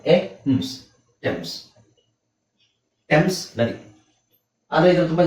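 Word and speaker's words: Thames: ಇದು ಎನಿ ಈ ಪದನ ತುಂಬಾ ಜನ ಥೇಮ್ಸ್ ಅಂತ ಕೇಳ್ತಾರೆ ಥೇಮ್ಸ್ ನದಿ ಕೇಳಿದ್ರ ಥೇಮ್ಸ್ ನದಿ ಅಂತ ಹೇಳ್ತಾರೆ ಬಟ್ ಆಕ್ಚುಲಿ ಅದರ ಪ್ರೊನೌನ್ಸಿಯೇಷನ್ ಏನು ಗೊತ್ತಾ ಟೆಮ್ಸ್ ಇದನ್ನ ನೀವು ನಂಬುದಿಲ್ಲ ಆಕ್ಚುಲಿ ಟೆಮ್ಸ್ ಅಂದ್ರೆ ಅಂದ್ರೆ ಏನು ಅರ್ಥ ಟಿಎಚ್ ಎ ನಿಮಗೆ ಟಿ ಆಗುತ್ತೆ ಇಲ್ಲಿ ಎಚ್ ಸೈಲೆಂಟ್ ಆಗುತ್ತೆ.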